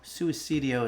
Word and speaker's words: Suicidio: Suicidio is the correct pronunciation, but um yeah, let's go ahead and get back to work here.